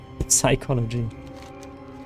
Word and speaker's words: psychology: But you know, my professor said to drop the P altogether, but it could be because I was pronouncing the P very um clearly. Psychology.